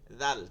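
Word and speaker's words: ذال: জা জি এই কোনটা আসবে না জিম আসবে না জা আসবে না জ আসবে না আসবে কি জাল চিকন এবং নরম জাল জাল জাল জাল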